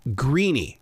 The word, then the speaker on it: Greaney: know I I think if you're in Ireland it's an Irish name you're gonna pronounce it greeny and I'm from Memphis